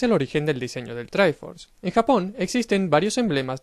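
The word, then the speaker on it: Triforce: trife pero sé que se supone que se pronuncia try force pero llevo toda la vida llamándolo three four se porque cuando aprendimos en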